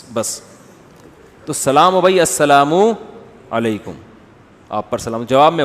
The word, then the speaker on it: السلام علیکم: اور صلی اللہ علیہ وسلم کا صحیح تلفظ بتا دیں. السلام علیکم کا ہے السلام علیکم.